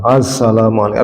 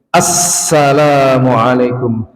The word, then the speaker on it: assalamualaikum: Asalam Asalamualaikum harusnya assalamualaikum.